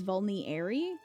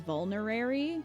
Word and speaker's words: vulnerary: no one did but i just thought it was vulnery i didn't realize it was vulnerary vulnerary now sounds really